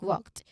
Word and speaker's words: walked: Of course, it's not walked with an extra syllable, but the smooth K to D transition.